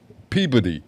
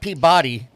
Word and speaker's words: Peabody: Peodyy. You know, it's not Peabody.